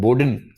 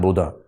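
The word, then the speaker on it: Bodin: आदमी जिसको अंग्रेजी में बोडिन तरीके से लिखते हैं बी ओ डी आई N French उच्चारण इसका बोधा होता है जी हां बोधा जीन बोडिन 16 सेंचुरी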